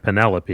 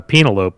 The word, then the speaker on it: Penelope: where I proceeded to loudly pronounce the name po instead of Penelope because i' never seen it written before so uh penelopee stuck with me as